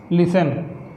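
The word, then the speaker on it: listen: यदि किसी शब्द के, सॉरी आर वाला नहीं सोचो ना, किसी शब्द के अंत में टेन आता है तो टी साइलेंट होता है।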